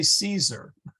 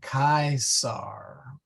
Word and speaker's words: Caesar: yeah or cato yeah they wouldn't say caesar they well okay actually caesar's an interesting word they would not say caesar so it'd actually be closer to like the german and they would have made the c hard so k sar but the a e was an i sound or an english i sound so it would been kai sar yeah the kaiser yeah